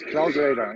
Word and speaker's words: CloudRadar: It is CloudRadar, exactly. It's Awesome. like cloud-based, and it's a radar function.